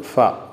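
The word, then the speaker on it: ف: ഇതിനെ ഫ എന്നാണ് പറയുന്നത്. എഫ് എ എ, എല്ലാ ഭാഷയിലും ഉള്ള ഉച്ചാരണമാണിത്, ഫ, ഫ.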